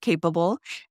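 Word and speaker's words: Capeable: comom which is our website and again it's spelled capable c a p e abl e but we do pronounce it capable and then we've got Facebook and Instagram which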